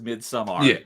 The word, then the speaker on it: Midsummer: Midsummer i i i you're saying it right because it's an AR not an ER so it is mid sumr okay yeah that that's